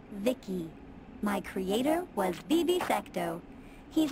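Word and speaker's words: VICI: By the way, I'm V-I-C-I. Pronounced Vicky.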